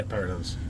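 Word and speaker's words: perytons: What are the peritons? Is that how you say it? Yeah, peritons.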